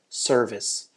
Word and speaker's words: service: that are particularly important first one is service we have a s sound here and so that it doesn't sound like survey we want to make sure we have a s sound at the end here service also the word work